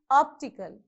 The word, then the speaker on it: optical: t historical okay next how many syllables you have in optical three so where you have to put this list mark against check one two three so on the first syllable itself because it is a third syllable from the end okay it is optical next one 80 so